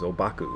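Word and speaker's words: Ōbaku: And Dogen was very fond of Huang Po, who he usually referred to as Obaku, which is his Japanese pronunciation of his name.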